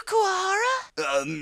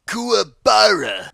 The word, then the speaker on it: Kuwabara: Nice to meet you, Kuwahara! It's Kuwabara. That's what I said, Kuwahara!